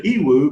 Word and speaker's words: Yiwu: and you know so i started going to ewoo because for me which is spelled y i w u ewoo marketplace is the single